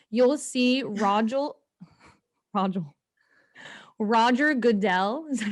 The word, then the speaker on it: Goodell: as it starts you'll see roger roger roger goodell is that how you say it yes you'll see roger goodell come out and he's always booed and i'm